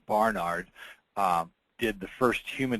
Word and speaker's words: Barnard: concept was developed by a gentleman named Marius Bernard uh very well-known outside the United States surgeon in South Africa in fact his brother Christian that's actually pronounced Barnard uh did the first human to human heart